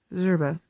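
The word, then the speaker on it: Szczerba: Eric Christopher and Austin and reg and stretch zerba my dad picked up some discarded consonants for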